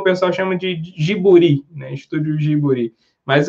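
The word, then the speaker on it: ジブリ: tem o vídeo ouvido não desse estúdio observam pronunciado de outra forma né às vezes na Europa o pessoal fala como Studios ghibli né e nos Estados Unidos pessoal para nos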